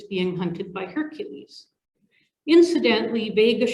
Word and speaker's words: Vega: hunted by hercules incidentally vegas should be pronounced viega or vega or wiga or something i'll never get used